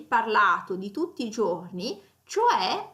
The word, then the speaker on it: cioè: di tutti i giorni, cioè a volte viene pronunciato talmente velocemente che potrebbe essere confuso con c'è che invece viene utilizzato per indicare la presenza di qualcosa o qualcuno in un luogo.